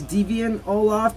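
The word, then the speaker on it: Deviant Ollam: Technically, it is Deviant Olaf, but I think he's given up on how people pronounce his name.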